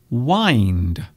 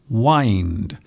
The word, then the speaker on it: wind: Now, this is an interesting word because sometimes this particular word here can be pronounced in different ways. So in this particular way, we are pronouncing this wind, wind, wind up.